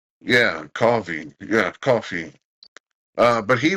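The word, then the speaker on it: Cawvey: say someone to someone it's pronounced like coffee yeah coffee yeah coffee uh but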